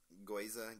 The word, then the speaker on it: gyoza: it was just regular gyoza yeah i can't believe we didn't ask that at the beginning goyza gyoza i guess you can pronounce the other way you're jewish uh again